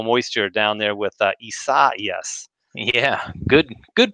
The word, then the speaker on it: Isaias: all that tropical moisture down there with uh issa yes yeah good good pronunciation brad i like it yeah i think